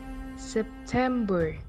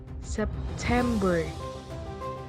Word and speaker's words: September: The example: September. September. I'm stressing up to word tem.